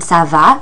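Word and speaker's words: ça va: under the C in Sava which tells us to pronounce that c like an s p or p is how how you would say not bad and you another polite way of answering Sava or if you're just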